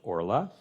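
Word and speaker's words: ערלה: of Ora is a kamat Katan so it's pronounced Ora that's why you'll see it um you might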